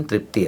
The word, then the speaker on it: तृप्ती: बर तृप्ती त्याला आपण तृप्ती म्हणतो त्याच करेक्ट प्रोनन्सिएशन तृप्ती आहे तर तिच्या व्यतिरिक्त तृप्ती